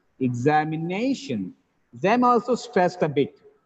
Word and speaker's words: examination: tears technician suspicion suspicion examination examination actually in this word we have two stresses nay gets the primary stress zam gets the secondary stress where it happens